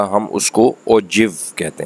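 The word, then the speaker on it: ogive: देखने में लिखने में हम ये देखें तो इसको ओगिव पढ़ना चाहिए था, लेकिन इसकी जो प्रोनाउंसिएशन है वो ओगिव नहीं है बल्कि ओजिव।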